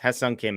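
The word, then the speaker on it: Hyeseong Kim: of them so there you go and yes Hung Kim is the pronunciation as as Devan is saying in the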